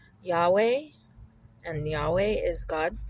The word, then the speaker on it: Yahweh: you will see that the word is actually pronounced something like Yahweh or Yahweh, something in that range. The Hebrew pronunciation is can tend to be a little bit vague, and it didn't contain vowels in the past. So I'm happy with the pronunciation Yahweh as being very close and a good way of saying it in English.